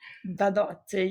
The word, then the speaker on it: Badotti: Have I pronounced that correctly? Badotti, yes.